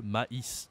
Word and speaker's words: maïs: but in French mais si je rajoute le ita ça devient le maïs de corn in French